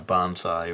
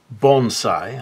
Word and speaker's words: bonsai: you sometimes see in a banzai or bonsai i believe it would be pronounced in actual japanese and what i want